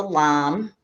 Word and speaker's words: lame: dough whisk this is it's called a lamb it's spelled like lame but it's called a lamb and all it really